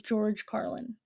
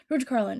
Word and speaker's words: George Carlin: comedians that I recently got really into is George Carlin. That's how you say his name. Sorry, I took a pause because I was thinking I could have said it wrong. George Carlin.